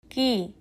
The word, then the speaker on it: け: এই অক্ষরের উচ্চারণ হবে কি? চলুন ধীরে বলি কি কি এখন একসাথে বলি কি